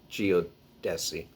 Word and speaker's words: geodesy: geometry elliptic functions astronomy geodesy electromagnetism sometimes geodesy is pronounced geodesi and yes i am